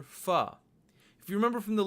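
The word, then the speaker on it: फ़: the bottom left, and then you get the letter fa. Fa.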